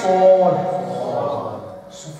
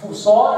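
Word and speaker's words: صاد: پھر ہے سور. سور is full mouth. سور سور منہ پور کر کے سور.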